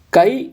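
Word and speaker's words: chi: That is கை இல்லை சி, நீங்கள் எப்படி வேணால் ப்ரொனவுன்ஸ் பண்ணலாம், பட் ஜென்ரலி கை அப்படின்னு சொல்கிறாங்க, பட் சி, கை square R C square test.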